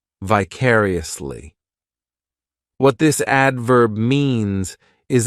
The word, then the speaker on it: vicariously: adverb which is vicariously this adverb has five syllables and the stress is on that second syllable vicariously the third syllable it's like that letter I just has that e sound and the fourth syllable has the schah vicariously what this adverb